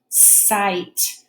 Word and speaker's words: sight: with this one so the G and the H are going to be silent sight this word has three